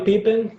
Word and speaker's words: Pippen: Sí, O sea, casi la I la convertimos en E. Exacto. Pippen.